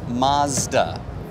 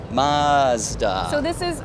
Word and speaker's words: Mazda: Ryan is asking us in the chat, Craig, how do you pronounce Mazda? Mazda. So I'm Canadian. I say Mazda. Mazda. Mazda. Craig is American. He says Mazda.